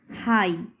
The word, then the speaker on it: high: যেমন HIGH, হাই, শুধু আইটারই উচ্চারণ হচ্ছে, জিএইচের কিন্তু আর উচ্চারণ হচ্ছে না।